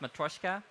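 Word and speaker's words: Matroska: a subset of MKV actually it's called it's pronounced matroyshka which is a codec that enthusiasts of things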